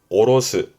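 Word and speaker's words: 卸す: 발음은 오로스. 발음은 어렵지 않죠? 여러분 머릿속에 있을걸요? 내려놓다 그러면 아래 하자 써가지고 오로스 하잖아요.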